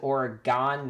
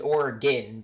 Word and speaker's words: Oregon: pronounce it the way I've heard some people pronounce it Oregon that's the way my family pronounces it but you know I we don't we know the pronunciation is organ but my parents are just so used to